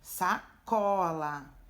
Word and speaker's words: sacola: No caso de sacola, não tem acento, mas quando ela é pronunciada, ó, sacola, é o có que tem mais intensidade, né?